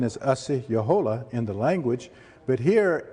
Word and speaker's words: Osceola: the civil house was a person known as Osceola or Osceola sometimes it's pronounced but the real pronunciation is a CEO Jolla in the language but here is a representation